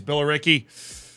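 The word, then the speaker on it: Billericay: best that I can apparently it's Bill Ricky honestly that sounds much less English but fair enough fair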